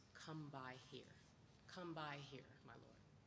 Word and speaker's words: kumbaya: This fin phonetic spelling kumbaya represents a dialect that is often mispronounced and misunderstood. So we honor the Gulla people and we sing this song with the words come by here.